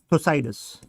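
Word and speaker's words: Thucydides: Example देता हूं, इसको सपोर्ट करने वाले स्कॉलर्स, जैसे एंशिएंट टाइम में थोसाइडस, ये डी साइलेंट होता है, थोसाइडस बोलते हैं, थोसाइडस।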